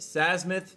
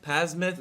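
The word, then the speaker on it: Psamathe: This isn't Sasmith, Pasmith. I'm horrible at pronunciation. I'm not even, I know, I've been covering the game for 6 years, but I hate the silent P.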